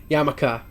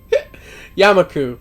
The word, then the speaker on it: Yamaku: Yamaka. I always said Yamaka. I just did not notice the U. I thought that U was an A, and I just kept thinking it was an A, I guess.